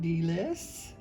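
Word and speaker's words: Dilys: So meet sweet Deelise. And I also like her name. It's spelled D-I-L-Y-S, and I like it because it also can stand for Do I Love You So, D-I-L-Y-S.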